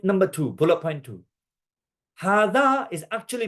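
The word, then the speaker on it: هذا: Hada is actually pronounced.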